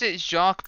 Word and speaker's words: Jacques: I think it's pronounced Jaw. I'm not entirely sure. Wait a minute. Yeah, no, it's Jacques, but we need to go back to Lofty Castle.